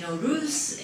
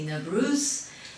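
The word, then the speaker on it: Nowruz: to talk about Nauru's and farsi we say no roofs and central they said either they say 'no bruce neveress and there's so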